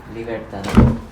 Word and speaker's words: Libertador: El Libertador. Libertador. That's how you say it.